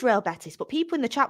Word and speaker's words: Real Betis: I knew it was Real Betis but people in the chat were saying the way she's pronouncing robettis is wrong I knew it was Real Betis people in the chat